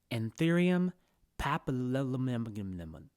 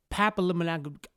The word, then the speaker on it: Anthurium papillilaminum: to pronounce this one, let's break this name down and figure out the best way to pronounce it. This species gets its name from two words. The first word is papilla.